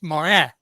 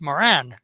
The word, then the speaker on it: Morin: Did the French pronunciation of Morin? It's Morin, and when you go to the States, it's Moran.